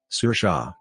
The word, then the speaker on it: Saoirse: say it's not and break it down to sounds sir Shaw for mother-in-law mother-in-law says